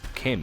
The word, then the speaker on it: CHIM: Chim, pronounced... Oh, Kim, sorry.